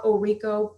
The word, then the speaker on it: Orrico: touch yeah absolutely so my website is Oh Riko PR comm and my last name is spelled orr IC o---- so Oh Rico PR comm and then for the extra stuff